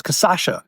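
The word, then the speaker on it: cachaça: Jambu is the plant, Jambu, and it's casacha is the actual spirit.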